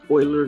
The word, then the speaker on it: Euler: about slope fields and boilers method yes it's pronounced euler not ruler kind of like the edmonton whether